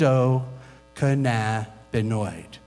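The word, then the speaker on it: endocannabinoid: discovering What's called the endoc canabo system it's six syllables try it with me and Endo cannabinoid endoc canabo system is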